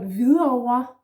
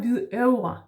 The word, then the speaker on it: Hvidovre: But Hvidovre is with an O, just like rødover also is with an O at the end. The last syllable starts with an O, yeah? So it's not Hvidovre, yeah?